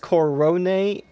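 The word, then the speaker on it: Korone: like set play cover actually it's pronounced Coronet uh I'm just gonna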